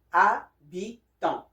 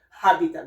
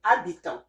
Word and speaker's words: habitant: For the word habitant in English, but in French is habitant. So you can hear that we don't say habit. No, we don't say habitant. No, we say habitant. H here is silent. Habitant.